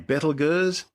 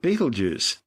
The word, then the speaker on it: Betelgeuse: sky from Earth and that name Bethel Gers well you may have heard it described by a different name Betelgeuse but both Bethel goes and Betelgeuse are simply tortured mispronunciations of its original Arabic name Intel Yassa meaning the hand of the big man the big man of